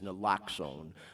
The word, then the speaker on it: naloxone: The official name of it, I think I'm pronouncing this right, is naloxone, but it's most commonly referred to as Narcan.